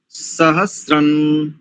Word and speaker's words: सहस्रं: दूसरी पंक्ति देखिए, सहस्रन, सहस्रन, शंसा। दोनों अनुस्वारों को नकार उच्चारण की दृष्टि से बता रहा हूं।